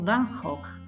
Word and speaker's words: Van Gogh: o gli autoritratti di Van Gogh o Van hoch come pronuncia nel suo nome in Olanda il paese in cui